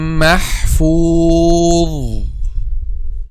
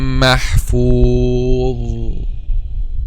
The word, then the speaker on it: محفوظ: They say في لوح محفوظ and don't make the tip of the tongue touch the edge of our two front incisors.